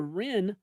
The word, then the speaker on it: Wren: A new report from the Law Enforcement Legal Defense Fund shows that a group called the Ren Collective, that's spelled WREN, likely after a Supreme Court case, if I had to guess, um, has been quietly writing.